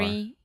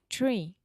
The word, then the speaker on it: tree: tree. And then you have, yeah, but it's the TR, not the TH. Yeah, tree.